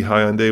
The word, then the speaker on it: Hyundai: pronounce hi hyundai and he said it's hyundai like sunday and so that's the correct way the other one that